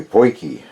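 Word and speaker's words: potjies: about hair called a boy key and the spelling is absolutely nothing like the way it is pronounced is a word in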